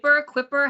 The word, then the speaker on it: Kuiper: You work for Project, and is it Quipper? How do you say Kuiper. it? Oh yeah, how do you Kuiper. Get it right pronounce at all.